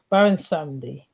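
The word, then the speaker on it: Baron Samedi: Then there's one on Baron Samdi, but I said his name wrong. But Baron Samdi.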